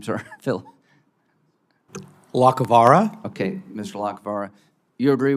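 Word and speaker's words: Lacovara: Lacavara?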